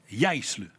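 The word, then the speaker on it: Jaissle: Le successeur des D, c'est Mathias Yisle. C'est comme ça qu'on le prononce. J'ai été vérifié. Yisle, il est allemand, 38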